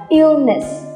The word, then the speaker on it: illness: Các bạn để ý là ill. Ill là một từ vựng kết thúc bằng đuôi âm l, l. Vậy chắc chắn là tụi mình sẽ đọc là illness. Các bạn phải đưa lưỡi lên phía trên nha. Đừng là illness mà là illness.